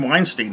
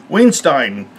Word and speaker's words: Weinstein: indictment against old Harvey Weinstein. Larry David let me know that you pronounce his name Weinstein. I've been pronouncing it Weinstein because I'm crazy that way.